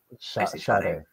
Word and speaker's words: Sade: Sade.